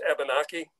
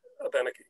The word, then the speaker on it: Abenaki: By the way, the Abenaki, and I use the Abenaki pronunciation, that is their pronunciation. You may be familiar with the term as Abenaki.